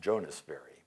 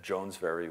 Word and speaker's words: Jones Very: I've learned since it's actually pronounced Jonas Very, but it's Jones Very if you see it spelled. And Jones Very was one of Winters'